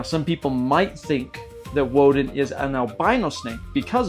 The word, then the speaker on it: Odin: Now, I spell the name O D, I, N. But, I pronounce it Woden. Why? Because I'm tapping into the ancient Germanic pronunciation of the Norse god we know as Odin.